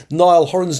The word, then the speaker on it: Niall Horan: Yes, listen, I'm pronouncing it correctly finally. Niall Horan's new release, Dinner Party.